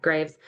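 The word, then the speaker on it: Greaves: I've read both Emotional Intelligence and Emotional Intelligence 2.0 with Travis Bradberry, and I think it's Gene Graves is how you say that, Graves.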